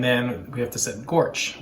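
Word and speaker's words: GOARCH: we have to set gorge which is the go architecture so which architecture the go tool should use but pronounced gorge and this is going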